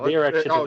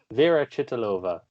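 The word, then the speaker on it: Věra Chytilová: Vera Chittilova. Do you know it? Vera Chittilova. Great, that sounds awesome. It's one of the odd times where it's you say it like it looks.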